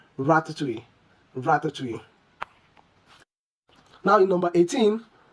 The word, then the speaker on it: ratatouille: The correct way to pronounce this is ratatouille. Ratatouille.